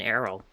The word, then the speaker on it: Errol: I'm more or less used to saying Arl than Errol. But I've decided, it's Errol. That's how I'm gonna pronounce her name.